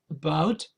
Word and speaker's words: about: which is anast so we are going to stress the second Sy syllable of about and this a is